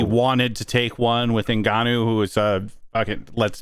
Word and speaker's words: Ngannou: When I saw Ngannou, is that how you say it? Ngannou, yeah.